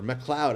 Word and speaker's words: MacLeod: I caught the documentary Royalty Free, the music of Kevin MacLeod, or MacLeod, I think his name is actually pronounced.